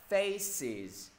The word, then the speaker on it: faces: No, mọi người không thể đọc là face, mọi người phải cộng thêm cho thầy một âm tiết nữa, đó chính là âm is. Is mọi người không thể đọc là face is, no, faces, faces.